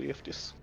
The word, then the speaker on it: Cleophas: $13 for Cleophas. That's how I'm gonna always pronounce it, by the way, is Hey, Cleophas. Cleophas.